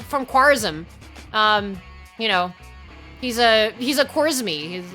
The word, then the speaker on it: Khwarizmi: But of course, like the k is kind of like hard for them to pronounce, so they're kind of more of a g sound.